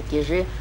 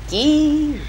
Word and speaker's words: Кижи: Правильно говорить, не кижи, а кижи.